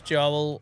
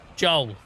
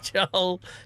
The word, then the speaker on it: Joel: Guys, if you are new here, my name is Joel and you will find I don't know why I put two syllables. I never put two syllables in it. Joel, my name's Joel.